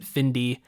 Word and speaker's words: Findie: So I guess you would pronounce it Findy, Okay. spelled Findie.